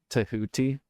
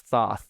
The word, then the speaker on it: Thoth: and invoked Thoth, which is actually like pronounced as Tahuti. Have you ever you realize if you say Tahuti, no one knows what the hell you're talking about, but it's Thoth. Yeah.